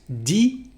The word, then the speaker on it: dit: The same thing for dire. The past participle is dit.